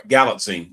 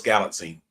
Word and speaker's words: Galitzine: Uh sorry, Galitzine. Nicholas Galitzine. Galitzine uh he was he was pretty good as He-Man, although I do have some issues with his character.